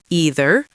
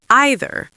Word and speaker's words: either: Either has two lives. Either or either. Both are totally correct.